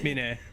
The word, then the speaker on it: Mina: Some people have been pronouncing it mine, but maybe they're just shortening the first character or whatever. Mina. Okay. Oh, that's how you pronounce it.